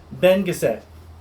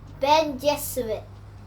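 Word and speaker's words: Bene Gesserit: that as I get Ben cassette Levi how do I say this yes how do I say this Ben Gazette you say it like I think you could say it like Ben Jesuit you're very good so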